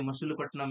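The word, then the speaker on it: Masulipatnam: फिर मस पटनम को ये मल्टी प्लेटिनम नहीं है मसूल पटनम है स्पेलिंग रंग है मैं पहले बता रहा हूं मसूल पटनम यहां लिखो एम ए एस यू एल आई पी ए टी ए एन आई यू एम इनको बोलता थे बो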